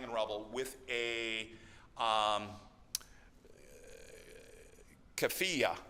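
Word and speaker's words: keffiyeh: rubble with a um CFA I think is the way you pronounce it which is the the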